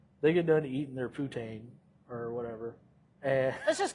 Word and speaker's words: poutine: It's called Poutine. Putin. Okay, Poutine, so it's spelled just like Poutine it or is.